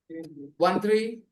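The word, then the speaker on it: thirteen: 1 3 13. I told you stress the second part.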